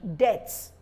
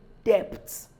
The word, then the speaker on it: debt: no it shouldn't so rule number two under the letter B is usually not pronounced or produced before T So if I have the letter b and I have a t subsequently at the end it will not be pronounced so look at this word debts debt some people say depths um or in a depth no rather you're owing a debt now somebody will ask